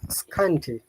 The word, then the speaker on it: scanty: Okay, it's adjective, and noun is scanty. Scant is also adjective. Oh, I thought noun. Scanty. Scanty. Scanty. Scanty. You see, now that T sounds like D. Flappy in American English.